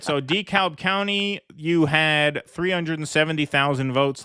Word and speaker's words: DeKalb: Yeah, DeKalb is no, it's DeKalb, right? DeKalb is how they say it, not DeKalb.